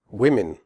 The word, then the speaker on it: women: not say an swear women the O in women has a different sound than the O in the singular form woman in women the o